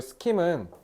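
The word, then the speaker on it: scheme: 그래서 어 각자의 여기 스킴은 뭐 계획이란 뜻도 있는데요. 이렇게 사회에다가 쓰면 뭔가 제도 이런 느낌 이런 걸로 해석하시면 돼요. 그 이거 발음 스킴이라고 하면 돼요. 스킴. 그래서 classificatory 그래서 뭔가를 분류하는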